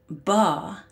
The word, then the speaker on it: Ba: Ba, as in Bar Black Sheep, is the overarching cosmic soul body that forms the daisy chain web.